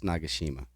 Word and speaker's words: Nagashima: so this is shigayo nagashima I've also heard it pronounced nagashima but I think it's nagashima but either way absolute